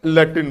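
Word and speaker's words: Latin: कारण लिखने का यह है कि लैटिन की जो स्पेलिंग है वह एल ए से चालू होती है। किससे चालू होती है? एल ए से चालू होती है। लेकिन बोला क्या जा रहा है?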